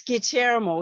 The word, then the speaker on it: Guillermo: No, it's Guillermo. He explained to us that it's a different pronunciation, and we'll fill in the gap until he gets.